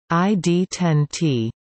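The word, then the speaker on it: ID10T: in ham radio usage ID 1 ot pronounced ID 10 T is a code frequently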